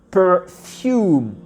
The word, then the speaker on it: perfume: Et ici, le R, on va le prononcer à l'américaine. Donc c'est un R. Tu vois, ça fait per, perfume.